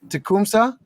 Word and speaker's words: Tecumseh: Tecumseh?